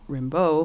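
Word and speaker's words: Rimbaud: called arta rambo like it's like arthur well arthur rimbeau who is the poet uh but uh it's spelled like arthur rambo oh i see okay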